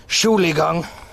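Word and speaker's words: Entschuldigung: Germany read this book it's pronounced Julie gang it means sorry like an apology and also a pardon if you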